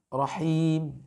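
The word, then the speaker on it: رحيم: Lalu yang kedua juga sama, rahim, ya. Rahim, ya, ra dibaca tebal, himnya dibaca dengan tipis.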